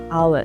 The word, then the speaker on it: hour: It starts with the vowel sound A. Hour. So we say an hour, not a hour.